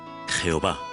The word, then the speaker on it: Jehová: Un aspecto destacado de estos textos antiguos es el uso frecuente del nombre divino, el tetragramaton, que en español se pronuncia Jehová.